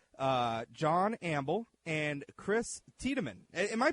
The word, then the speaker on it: Tiedeman: conservatives I have uh John amble and Chris tman am I pronouncing your last name right Chris yeah absolutely